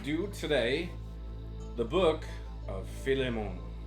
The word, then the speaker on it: Philemon: We are going to do today the book of Filimmon. I like that. Yeah. I like that pronunciation.